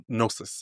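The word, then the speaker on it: Gnosis: you pronounce it nosis nosis okay G is silent question for G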